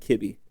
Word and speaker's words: Kibbe: His name is Fred Kibb, or Fred Kibbe is how they pronounce it. In the movie, we went with Kibb because we didn't know the pronunciation when we started production.